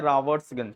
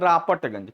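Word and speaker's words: Robertsganj: जैसे मैं जहां रहता हूं उसका नाम है, उस सिटी का नाम है रावर्ट्सगंज, क्या नाम है, रावर्ट्सगंज। तो एक होता है फॉर्मल नेम, क्या होता है, फॉर्मल, एक होता है देसी नेम। लेकिन लोग उसको क्या बोलते हैं, रापटगंज, क्या बोलते हैं, सारी बात समझ में।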